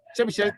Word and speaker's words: Chebyshev: Yeah, Chebyshev, yes.